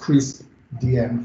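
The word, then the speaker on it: CRISP-DM: yeah so i have this as decreased dm's pronounced crease dm framework okay so without any further ado i'll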